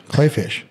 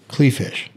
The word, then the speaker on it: Kleefisch: Kleefisch. Kleefisch. It's pronounced Klee. Or, I mean, it looks spelled Klee. It's German. Klee is clover. Clay.